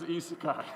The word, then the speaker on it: isekai: It is isekai. The problem, I got stuck on sekai because sekai is world, and I was like, why am I blanking on how to say this properly?